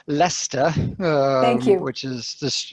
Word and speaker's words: Leicester: the Rockies but uh living in it's actually pronounced Leicester thank you which is this yeah the English